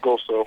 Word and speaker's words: GOESO: It's pronounced GOSO.